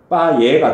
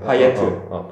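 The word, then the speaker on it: Payet: 이런 것처럼 파에도 그런 논리로 파예가 돼야 되는데. 파예. 얘는 파예지야. 파예트. 왜냐면 얘는 아까 얘기했듯이 아까 얘기했는 그 프랑스가 아주 오래전부터 갖고 있었던 성 출신인데 그 지역에서는 마지막에 모음이 있을 뭐 자음이 있으면 발음을 한대.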